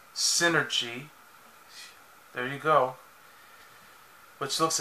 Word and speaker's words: Synergy: was created by her late father which is pronounced synergy there you go which looks exactly like like